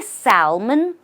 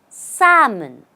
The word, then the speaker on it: salmon: do you say it do you say Salmon well again the L here does not exist in the pronunciation the way to say it correctly is samon just say samon say it after me samon I also look at